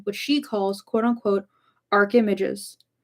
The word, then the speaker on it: archimages: she calls quote unquote arch images. rhymes with rages. Oh, archimages.